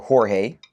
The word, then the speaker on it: Jorge: So for instance, I can type in my name, George or Jorge. It's actually, that's the way it's spelled.